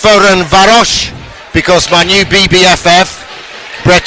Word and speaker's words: Ferencváros: How do we know it's pronounced Ferencváros?